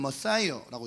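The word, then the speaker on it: Messiah: 자, 그래서 이걸 영어로 가져왔을 때 메시아는 머사이어라고 있고, 이 크리스토스는 영어식으로 가져왔을 때 크라이스트라고 한 거예요.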